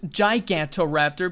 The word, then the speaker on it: Gigantoraptor: I don't pronounce its gigantoraptor because because you know the word geiger Giga and stuff so I just go with Giga and like Giga notice